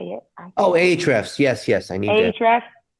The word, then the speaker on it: Ahrefs: Oh, Ahrefs.